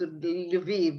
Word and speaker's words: Lviv: Well, so you pronounce it differently. In Polish, it's Lvov. Yeah, and Ukrainian it's Lviv and so on.